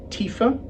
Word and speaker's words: Tiwha: pits 2019 ponir this is referred to as Tifa evidently the name is more correctly pronounced Tifa but it's a wine that's been named in honor of the proprietor's father whose name was Tifa but his family called him Tifa and that's